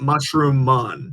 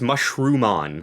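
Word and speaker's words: Mushroomon: have a question yes is it it is spelled like that Mushroom on yeah or is it mushroom mon no it's Mushroom on like it's it's okay I copy paste the spelling there's only one M yeah I'll take it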